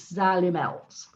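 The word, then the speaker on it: Xylimelts: group yeah sally melts because people say it wrong it's an x think of the azalea fern but it's sally melts and i can honestly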